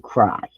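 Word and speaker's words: ducreyi: must test positive for HD cray sometimes pronounced HD cry local Labs do not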